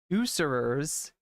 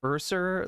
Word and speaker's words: usurers: this this word wrong, usurers. I always say it like Urser, like it sounds like I'm talking about bears.